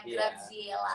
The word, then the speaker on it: Graziella: Penyebutannya itu namanya kan Graziella Bible Emanuela. Jadi penyebutan di tulisannya Graziella, tapi kalau penyebutannya itu ada T-nya, Graziella.